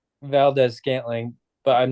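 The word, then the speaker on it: Valdes-Scantling: what's the how do you What's pronounce his his name? name? Marquez Valdez Scantling. What's his Marquez first name? Valdez Scanlon. Marquez Valdez Scanlon. Should we final it? Scantling.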